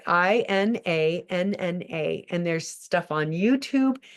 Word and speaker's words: Inanna: Her name is Inanna, and Inanna is, let me tell you, it's spelled I, da, da, da, da. I want to get it right. Inanna.